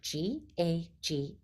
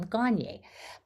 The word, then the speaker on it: Gagne: relate to this because my last name is spelled g-a-g-n-e and it's a French name Garnier but I've gotten gagne I've gotten all sorts